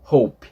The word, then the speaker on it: hope: quer dizer Esperança né então você vê que tem a letra e e a gente não pronuncia Hope Hope não é h h então a gente a última a a última letra que a gente pronuncia a letra P Hope tá então só que